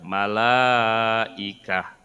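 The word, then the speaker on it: ملائكة: Bacanya la-nya panjang. Malaikah. Ada mad, kemudian ketemu hamzah dalam satu kata. Disebutnya mad wajib muttasil.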